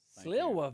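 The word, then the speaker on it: Sliwa: Sila, very good pronunciation of S L I WA.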